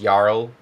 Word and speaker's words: jarl: But yeah, I think in Old Norse like the way you pronounce it is Yarl, but the English word is Earl.